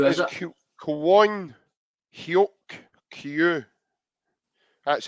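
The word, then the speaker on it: Kwon Hyuk-kyu: Kwon Hyuk Kyu. That's how you pronounce his name. Kwon Hyuk Kyu.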